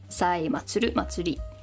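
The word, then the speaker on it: 祭: this and this is worship DFI or Festival Matsuri I only knew it was Matsuri I didn't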